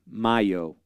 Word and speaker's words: Mayo: So my name, lovingly has always been Mayo, like the month of May, Mayo.